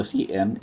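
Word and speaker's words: cin: for the user input the cn pronounced a cn is a predefined variable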